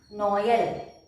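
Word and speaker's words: Noël: That means when we see this tréma, we should know that we have to pronounce Noel. We should pronounce both vowels together. Noel.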